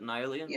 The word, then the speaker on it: Nyon: which one it is Nyon comes from you know the River Nile so I pronounce it Nyan but I don't think either of them are particularly wrong okay so the plans for